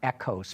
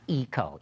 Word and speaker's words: Eco: vehicle they call it echos do it really okay I actually was wrong in that okay because overseas people pronounce it echo not iko iko is a very American pronunciation so you watch Ford's